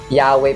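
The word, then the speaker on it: Yahweh: Yahwe pa rin ang pag-pronounce don mga ka-sos kahit wala yung dalawang vowels.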